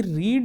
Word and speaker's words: read: होता है spelling wise, लेकिन जो प्रोनाउंसिएशन है वो प्रेजेंट फॉर्म में रीड होता है, पास्ट फॉर्म में रेड होता है। ओके मतलब प्रोनाउंसिएशन में हम इसे रेड पढ़ते हैं, RED रेड।